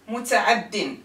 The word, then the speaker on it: متعد: When it's indefinite, فعل متعد. See the difference? المتعدي has the يا in its end. متعد lost the long vowel يا.